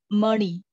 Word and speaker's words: Mani: Om Mani. Mani is not ni. It's ni. Mani. Okay. Mani. Om Mani. Om Mani Padme Hum. Padme Hum. Sixth label. Om Mani Padme Hum. So Mani have two syllable, Padme have two syllable.